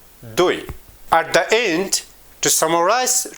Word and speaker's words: دوی: We pronounce it T H O I O. دوی.